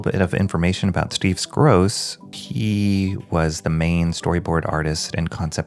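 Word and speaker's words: Skroce: was Steve scross and I believe I pronounced his name scoki in the intro but I think it's scoss and Danny Earls were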